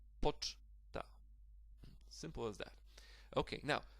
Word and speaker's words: poczta: And the stress falls also on the first syllable here. Definitely not on the last one. So it will be pronounced like poczta.